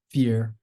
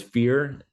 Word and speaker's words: FYEAR: as Kai says I I'm leaning towards fear and I think Kai has a little bit more emphasis on the year but it's never meant